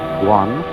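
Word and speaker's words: 觀: Chinese character which I drew at the beginning, pronounced guan, or quiet observation.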